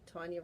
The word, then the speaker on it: Tonya: that are playful so Tonya rhymes with Donna Donna Tonya aah Tonya Donna okay